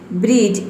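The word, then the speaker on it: bridge: आया है तो इसमें डी जो है वह साइलेंट है, जज। उसी तरह से यहाँ पे देखिए वेज, बजट, फ्रिज, knowledge, ब्रिज, इन सभी में क्या है, डी के बाद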